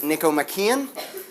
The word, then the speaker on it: Nicomachean: had a question like how do you pronounce that word you pronounce it Niko makan this Treatise is named